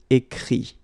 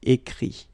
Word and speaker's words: écrit: Écrire, to write, will become écrit. Okay? Remember that phonetically this final T doesn't exist. Okay? So the sound will be only this I, écrit.